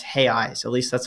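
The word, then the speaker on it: reais: pronounced how is it hey eyes it's hey really that's how it's pronounced it's spelled like real though yeah and and the plural is r-e-a-i-s and that's hay eyes at least that's how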